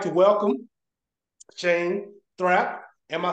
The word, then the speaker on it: Thrapp: so so I would like to welcome Shane thra am I saying the last name correctly you